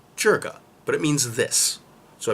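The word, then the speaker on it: 这个: The first word I was told to learn was jega, which is actually properly pronounced jerga, but it means this.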